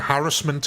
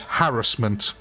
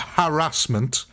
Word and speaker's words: harassment: It's basically all social media due to harassment of kids. By the way, ladies and gentlemen, that is the correct way to say that word, harassment. It's not harassment, it's harassment. Oh, Dave, that's already happened